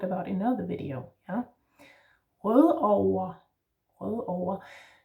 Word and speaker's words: Rødovre: And the V in over is not really a V. You don't need to really bite your lip here. It's more like a W or an U kind of sound. Over. Note here I'm saying over, but actually most people say O-A. Rødover. So almost like an ER, or like an ER ending, like we talked about in another video, yeah?